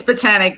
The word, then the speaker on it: Botanique: Our guest has been Lisa Randall with Botanic. Botanic. I still say Botanique. With Botanic. Okay, what's the name of your business? Botanic. It's Botanic, Botanic Skin Nutrition and Botanic Skin Wellness Spa.